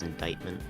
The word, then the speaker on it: indictment: the country that's true I'm pretty sure it's indictment um but also any accomplishes oh this pronounced indictment yeah sorry that's weird Okay um